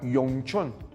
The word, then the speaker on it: Yongchun: portanto, não o oficial, porque o oficial do país China é o mandarim, seria Yongchun. Então, seria Y-O-N-G-C-H-U-N.